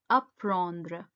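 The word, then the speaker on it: apprendre: word is to learn and a is pronounced as a in french so it's aprendre next word is to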